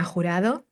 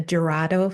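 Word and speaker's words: Jurado: My name is Horado. Gerado for those who cannot pronounce Spanish.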